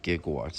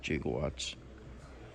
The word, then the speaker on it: gigawatts: of electricity 1.21 gig although the movie pronounced it the wrong they should have said gigawatts instead of jigawatts yeah this is one